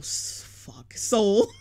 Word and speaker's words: Sowell: assault 199 super chat i think it's pronounced thomas sowell soul soul thomas soul okay okay thank you